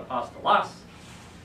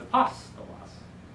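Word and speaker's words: ἀπόστολος: that just tells you that's the syllable where you want to put the emphasis so it's not a possible loss it's a pasta loss so we'll see that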